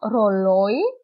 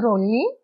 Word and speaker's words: ρολόι: Για παράδειγμα, ρολόι, Κάιρο. Αλλιώς ήταν ρολί, ήταν εδώ, και καιρό. Αλλά αφού είναι στο πρώτο γράμμα, διαβάζεται ξεχωριστά. Ρολόι και Κάιρο.